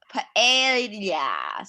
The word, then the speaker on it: paella: Paella. So it's like, and this is Spanish. So the L is pronounced as like a Y. It's kind of like you don't really say it.